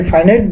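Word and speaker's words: finite: Simple সেন্টেন্সের সংজ্ঞা হচ্ছে যে বাক্যে একটি সাবজেক্ট, একটি ফাইনাইট ভার্ব থাকবে, তাকে সিম্পল সেন্টেন্স বলে। এটাকে ফাইনাইট উচ্চারণ ফাইনাইটও করা যায়, অথবা ফিনিট ভার্ব বলা হয়।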